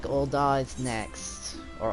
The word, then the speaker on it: Ul'dah: Alright, so it looks like Ul'dah is next. Or Ul'dah, whatever. I always call it Ul'dah, like I put a big emphasis on the da, but apparently the English pronunciation just says like Ul'dah.